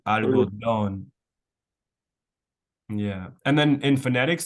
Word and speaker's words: algodón: And then here we have the accent, which is what I was saying before. It wouldn't be algodón, would be Mm. algodón.